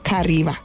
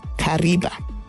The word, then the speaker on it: Kariba: dam wall lies a rock that resembles a traditional stone trap River hence Karima later mispronounced by europeans as Kariba the other version is